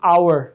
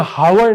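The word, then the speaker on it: hour: लेकिन आप कहते हैं I will be there in एन आवर, या हावर नहीं है, इन एन आवर, या एच साइलेंट है और ओ यू आर प्रोनाउंस हो रहा है, I will be there in एन आवर।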